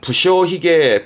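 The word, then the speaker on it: 無精髭: 시계라고 들어보셨나 희게 희게는 수염이라 그러면 발음은 부셔 희게 부셔 희게 그러니까 게을리하는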